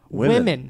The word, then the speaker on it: women: WOMEN is pronounced women.